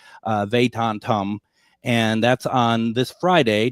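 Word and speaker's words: Vedantam: Perceptions Tour with Shankar Vandentum. I practice, and I still get it wrong when it's actually on the air, and I am no good with pronouncing names, but it's Shankar Vatantum.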